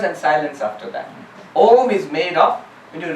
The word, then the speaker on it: Om: by a fortunate coincidence, A and U together becomes O. And in English you have O. So O and M together give you the correct pronunciation of Om, which the Sanskrit pronunciation is exactly the English pronunciation also.